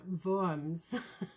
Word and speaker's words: Worms: was a diet of worms but um no it's a diet an assembly in forms if we give the german pronunciation worms the main event of